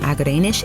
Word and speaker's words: Agerenesh: Executive Producers from Starglow Media are Jed Baker and Agerenesh A. Palmer (pronouncer: Ah-guh-ray-nush) This episode of MUSICLAND STORIES was written by Thom Dunne Alessandro Santoro is our showrunner.